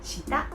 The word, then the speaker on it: 下: Today's kanji is shita. So let's get started. Meaning: under, down, below, vertical. This stroke. 1.